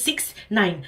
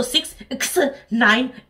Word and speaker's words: 6ix9ine: hundred percent sure but i think it's six nine but it's it's also six x yeah you can pronounce both ways no problem i think everyone will